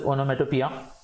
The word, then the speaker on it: onomatopoeia: Spelling की तरफ देखोगे तो ओनोमेटोपोइया वगैरह ऐसे दिखेगा, बट it's basically refer to एज ओनोमेटोपिया। A word resembles a sound that it is describing.